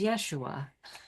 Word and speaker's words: Yeshua: that helped me was finding the Aramaic pronunciation which is Yeshua right and that gets